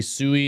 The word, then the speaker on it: Sui: to say it uh I guess probably Suey is the correct way to say sui uh it's Latin oh there you go